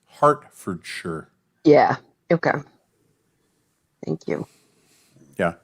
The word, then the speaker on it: Hertfordshire: To me, it's pronounced Hertfordshire.